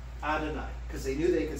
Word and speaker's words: Adonai: striking us they said let's replace yahweh or the pronunciation yahweh with adonai which is hebrew for lord so whenever the jews would read scriptures where it says yahweh they left those four consonants in there but they would pronounce it adonai because they knew they